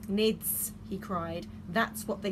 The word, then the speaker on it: Knids: this the misha s' needs he cried that's what they were he sounded the K like Kenneth's like that oh it's not a silent K I thought they were